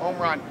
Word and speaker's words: Omron: Omron.